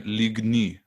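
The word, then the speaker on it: lignji: Actually, in Slovenian, it's Ligni in plural. So the letter I, but it's pronounced like E in English. It's then Ligni. I see. J and I are together, then Y.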